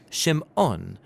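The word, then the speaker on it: Shimon: son and she names him Simon or in Hebrew shim ohn because she says the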